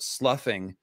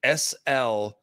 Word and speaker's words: sloughing: By the way, earlier I read a word, sloughing, that I hear people mispronounce. I don't want people to mispronounce words, okay? It's very important to me. Mispronounce. Sloughing, S-L-O-U-G-H. Looks like slough or slough or something.